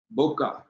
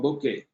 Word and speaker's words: bokeh: Our next topic is the bokeh or bokeh, depending on how you pronounce it. I pronounce it, I mostly call it bokeh.